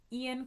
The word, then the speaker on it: Eoin: The author's name, I think it's pronounced Ian Colfer. It's Irish. His first name is spelled Eoin, so it really could be anything. His name could be Lucia, and it could be spelled that way.